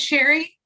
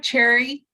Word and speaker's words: Cherry: see it's sherry look it's sherry with the sea um it's it's pronounced it looks like cherry but it's pronounced like sherry like the wine well i think i